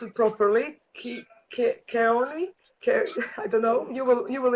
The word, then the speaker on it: Kahan: sure if I'm going to pronounce it properly, Kahan, I don't know, you will introduce yourself, and Brandon Colleran, whom I met, sorry, please. What is the pronunciation of your surname? No, it's okay. Kahan.